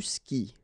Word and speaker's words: skis: And then tu skis. Well, exactly the same thing, even if you get this s, well, actually the is mute. You don't pronounce it, so you don't pronounce the final s either.